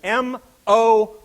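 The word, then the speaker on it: MOOC: says in red is M ooc oh that's wonderful thank you how do you pronounce that word folks moo have you guys all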